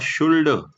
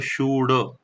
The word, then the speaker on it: should: लगेच शुड दिसणार आहे बरं याचं spelling S एच ओ यु एल डी जरी असलं तरी याला शुल्ड असं म्हणायचं नाही ल चा उच्चार होणार नाही शुल्ड न म्हणता फक्त शुड असं म्हणायचंय तर मग कर्त्यानंतर लगेच